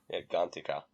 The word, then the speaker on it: Gantika: So, so Ahsoka's mom walks out with Ahsoka, and the village elder, her name is, I wrote it down, Gantika. That's how it's pronounced. Gantika.